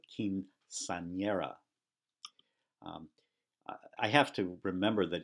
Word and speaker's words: quinceañera: In fact, notice that word has two N's. One is pronounced the way an N is normally pronounced, but the second one is pronounced like ny. So quinceañera.